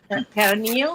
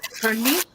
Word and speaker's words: pernil: of Puerto Rican style called pernil or pernil. And but it's spelled like PERNIL, and it's roasted pork shoulder.